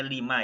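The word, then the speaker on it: لِمَ: Sini bacanya lima ya, bukan lam. Sini lima. Ini ma-nya ma istifham.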